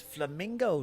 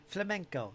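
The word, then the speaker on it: flamenco: Is that how you pronounce it? Flam. I'm thinking of the dance. Flamingo guitar. It's flamingo, right? I never danced the flamingo. Prefer the salsa myself. Actually, the long war that never ends. Is he pretty good, squirrel? That'll get the ladies. That'll get the ladies for sure. Flamnco. Is it? Am I pronouncing it wrong? I never noticed. I'm a weirdo then. Flamnco.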